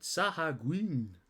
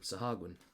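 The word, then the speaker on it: sahuagin: the night walker and the sahagin and yes I've actually watched somebody online pronounce that and that's apparently the way you've got to pronounce it rather than my stupid Saha Green Oh but that was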